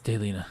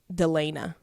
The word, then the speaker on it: Daelena: I'm friends with a girl on Facebook who her name is spelled the exact same way, but it's pronounced completely differently. Oh, that really helps. Hers is pronounced Daelena.